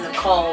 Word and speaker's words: Nichol: with my middle name it's Nicole but it's spelled n-i-c-h-o-l right and normally when